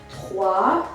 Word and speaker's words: trois: Marie, A, O-I, wa, T-R-O-I, trois, and the S is silent.